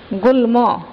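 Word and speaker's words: গুল্ম: কোনটি একটা হচ্ছে গুল্ল গুলম গুলো গল্প তাহলে কোন উচ্চারণটা সঠিক এটার সঠিক উচ্চারণ হচ্ছে কে গুলম ঠিক আছে এর উচ্চারণ হচ্ছে গুলম অর্থাৎ এখানে ম এর উচ্চারণ বজায় রয়েছে অর্থাৎ যেমন আছে যে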